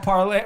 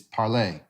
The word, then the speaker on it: Parler: i don't know he's saying it's called parley how do you pronounce it i'm just saying that i don't know that you know the word to speak in french is parlay okay and that's that's